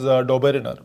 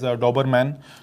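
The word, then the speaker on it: Döbereiner: scientist whose name was Doberener. Please don't mispronounce it as Doberman, which is different.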